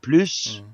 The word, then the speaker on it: plus: ouis pourquoi le mot plus à deux significations opposé si tu prononces le S ça veut dire beaucoup plus et si tu prononces pas le S ça veut dire il y en a plus y a plus rien